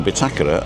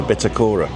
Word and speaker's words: bitácora: That's why the bitácora in Las Americas is the bitácora and not the bitacora.